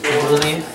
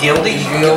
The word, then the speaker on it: Gulde: Gulde. Gulde. That's why I never try to say it. I read it, I'm like, is that Gildy?